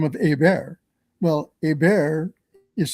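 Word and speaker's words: Hébert: Well, Abear is spelled H E R Bert T, so it's Herbert, but it's pronounced Abear.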